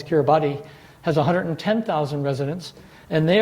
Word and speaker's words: Kiribati: And Kiribati, or the way it's spelled is Kiribati, has 110,000 residents, and they are already set to move to some of the islands in Fiji.